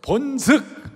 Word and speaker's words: 본즉: 내가 본즉, 본죽이 아니에요. 발음을 잘못하니까 본죽이라고 그래. 본죽이 아니고 본즉.